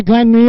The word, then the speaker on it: Glanmire: Glanmere Park, have I pronounced that correctly, Sam? Yeah, Glanmere.